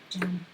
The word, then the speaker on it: Jeraim: Jam. Oh, it's pronounced jam.